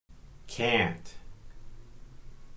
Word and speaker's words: can't: Can't. When we pronounce can't, we elongate A to an. Some people don't strongly pronounce the letter T.